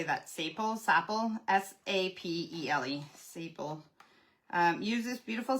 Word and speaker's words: sapele: Sapele?